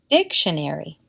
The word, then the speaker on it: dictionary: de voz pues Sabemos que esta palabra se pronuncia dictionary en vez de John nerry o dictionary dicho